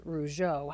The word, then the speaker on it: Roger: And as you said, his name is Jacques Roger. He goes by Jay. The family on his side says Rougeau, how they pronounce the last name, but he is a young man Corry is very proud of.